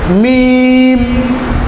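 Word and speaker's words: ميم: তাহলে মিম এক আলিফ টান দিয়ে পড়তে হবে মিম মিম মিম মিম আর যদি আমরা মিম বলে ফেলি তাড়াহুড়া করে বলি তাহলে আমাদের উচ্চারণটা সঠিক হবে না সঠিক উচ্চারণটা হচ্ছে মিম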